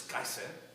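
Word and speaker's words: קיסר: In Hebrew, it's Kaiser.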